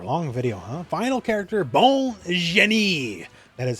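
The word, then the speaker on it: Bonne Jenet: Final character, Bon Jenet.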